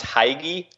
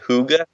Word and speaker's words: hygge: wouldn't have guessed it it looks like it's pronounced Hagee but it's actually pronounced whoo good yeah um it's a